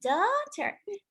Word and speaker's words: daughter: my daughter look at the girl she's my daughter dad says look at the girl she's my